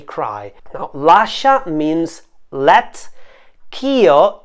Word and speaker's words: ch'io: now Lasha means let Keo is the union of the words ke c h e and EO now in order to save one syllable and to let the words fit into the melody K and EO have been joined together the word k has lost its final vowel so Kyo is now a one syllable phrase which means that I